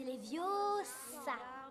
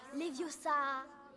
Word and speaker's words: Leviosa: C'est Leviosa. Et pas Leviosa.